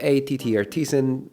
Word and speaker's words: TTArtisan: TT Artisan uh rhymes with butician because this is a portrait l portrait lens and it does take beautiful portrait photos.